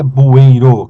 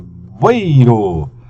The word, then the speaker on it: bueiro: palavra aqui, ó, né, na verdade não é bueiro que se pronuncia, é bueiro. Então ela tem um tritongo, ela faz isso aqui, ó, bui, né, tracinho, ro, opa, aqui, ó, tá vendo?